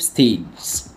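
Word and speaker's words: stage: التاسع بيقول سي ال اي ال ساينس لايف ستيج لايف الحياه ستيز يعني مراحل خد بالك الجي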